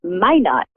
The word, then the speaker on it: Minot: It's Minot, actually. It's Minot, is it? Oh, how funny. Yes. I pronounce it in the French way, right?